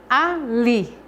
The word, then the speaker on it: ali: Ali. A palavra ali, o li é a sílaba tônica dessa palavra, porque é a que eu pronuncio com mais força, com mais intensidade.